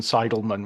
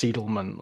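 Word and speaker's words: Seidelman: to be continuously going you know Susan seidleman when it's seelan or of Vicky bery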